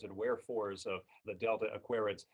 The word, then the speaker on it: Aquariids: But Aquarius, going from Aquarius, where the accent is on the second syllable, to the Aquariids, accent on the first syllable, that's a little bit of a jump.